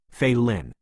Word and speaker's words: Failen: My real name is Failen, pronounced Failin.